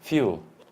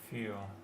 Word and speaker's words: fuel: And in English we start with a y, like yellow, no? Yellow? Euro, university, European, and here, fuel. Fuel.